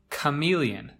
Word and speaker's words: chameleon: how it is spelled it begins with a CH which you might think is pronounced choo but it's actually pronounced chameleon chameleon now maybe some